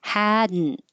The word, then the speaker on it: hadn't: to the I hadn't we don't say the T you make a cabic n which means the N becomes its own syllable hadn't hadn't M the you're